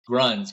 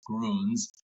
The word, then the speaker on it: Grüns: the day cuz everyone I've here I've heard pronounce it over here is always like Gruns, Gruns, you know, their growth is crazy, but now we know for a fact it is Gruns and it means greens in the in the German language.